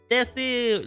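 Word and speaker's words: です: Basically, she told me that the des in, you know, des is the usual pronunciation for like desu, right? But she told me that it would be cuter and it would fit my character and personality better to say desu, you know, to extend the u part of it.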